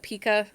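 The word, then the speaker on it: Picoult: Well, it's like the salsa, pico salsa. Oh, pico. Yeah. So I think it's pronounced pico.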